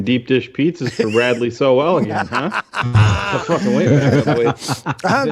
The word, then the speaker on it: Sowell: I think that the issue with Bradley Sowell, and I think it's pronounced Sowell according to Adam Hogue and Adam Johns.